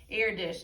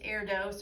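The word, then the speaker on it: Erdős: life of paul airdish now if you look at the way that that's spelled it kind of looks like it's air dose or airdos but i'm pretty sure it's air dish i've heard that said from other people so that's what i'm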